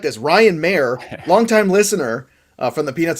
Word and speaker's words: Maher: So hi, but he's Mayer. It's weird. Mike, your name should be pronounced Maher.